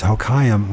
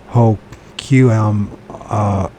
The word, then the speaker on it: Hoquiam: I'm trying to think how to pronounce Hoquiam. So it's Hoquiam, Washington.